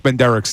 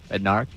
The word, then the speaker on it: Bednarik: Ray, say his name. Bednarik? Bednarik. Chuck Benderek. Bednarik. Benderek. Bednarik. I don't know why. Now you've got me saying it wrong because I have to